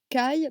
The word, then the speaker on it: Caï: Caï, prononciation exacte du gallois Kéou, graphie sous laquelle il apparaît souvent dans les romans français, a les caractéristiques du